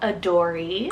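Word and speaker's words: Adorie: a names for the girls side I have a Dory it's spelled a-d-o-r-i-e a Dory this one is super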